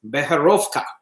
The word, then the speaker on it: Becherovka: play with this and the way that you pronounce it is better off top better off top okay